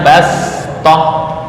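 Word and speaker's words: بصطة: tulisannya pakai Shad bas Bast itu tulisan cara membacanya Bash ya dibaca dengan Sin Bash Apa perbedaannya Shad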